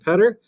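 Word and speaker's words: Poetter: my name is mr petter my name is spelled p-o-e-t-t-e-r which kind of looks a little bit funny if you just kind of imagine dropping out the o better petter okay they rhyme and they would look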